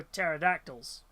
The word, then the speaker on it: pterodactyl: Uh no, it's because it's the P is silent for pterodactyls.